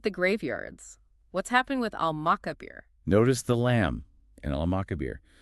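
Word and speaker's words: المقابر: So we clearly hear the al sound, al-makabir.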